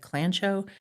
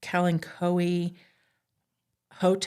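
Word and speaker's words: Kalanchoe: I've always heard it said Clanchcho, but apparently it's supposed to be Kalen Koi Hot.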